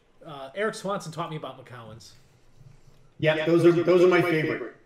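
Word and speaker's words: Macoun: It's written Macoon. It's pronounced Macallan.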